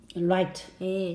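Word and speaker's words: write: Right，写东西啊，W-R-I-T-E， right， W 不发音啊。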